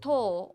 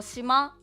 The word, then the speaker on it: 島: This kanji is pronounced as to or shima, which means island.